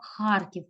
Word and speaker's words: Харків: заключаю нам значить запис цих українських міст місто Харків перша столиця нашої України Колись Харків був столицею